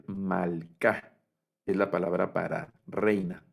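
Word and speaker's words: מלכה: Este Sheva tampoco suena, y entonces vamos a leer Malca. Es la palabra para reina, Malca.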